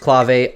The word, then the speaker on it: clave: Progressive and Progressive house and yes it is pronounced clave I've Googled it many times I swear if